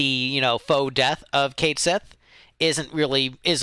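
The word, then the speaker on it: Cait Sith: it going uh so I used to say Katy because that's the proper pronunciation but Square Unix has made it Kate Sith so Kate Sith I also think is srank I think Kate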